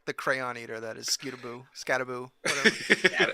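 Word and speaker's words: Skattebo: Scatabo over 60 yards, and you said his name wrong. So I disagree. Isn't it like Scatabo? It's Scatabo.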